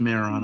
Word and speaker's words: Majorana: It's It's pronounced Majorana. Oh, Majorana. I'm sorry. I didn't realize the J was silent. It's like like marijuana.